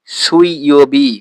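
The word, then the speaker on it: 水曜日: নিচে আছে সুই ইওবি এটা সেই একইভাবে উর উচ্চারণ কিন্তু আমরা করছি না সুইবি সুইওবি মানে হচ্ছে বুধবার অর্থাৎ ওয়েডনেসডে সুইওবি এর নিচেরটা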